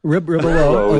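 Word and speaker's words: Rebillot: Ribelet, I believe. Is that how you pronounce his last name? Dave's Was on geeking out on you here, buddy. Ribelow is okay. how he pronounced it.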